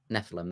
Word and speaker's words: Nephilim: Nephilim.